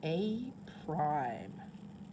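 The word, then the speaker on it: A′: So if the pre-image is labeled A and the image is labeled A with that little slashy thing, you would pronounce it A prime.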